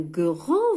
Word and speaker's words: grand: C'est un grand verre. Le verre هو الكأس. Grand, كبير. لاحظوا أيضا D هنا حرف D لا ينطق.